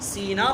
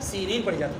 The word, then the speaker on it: سینین: کبھی سینا پڑھا جاتا ہے، سینین پڑھا جاتا ہے.